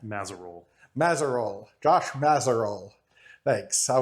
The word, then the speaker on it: Mazerolle: Mazerole. Mazerole. Josh Mazerol. Thanks. I would have butchered that up.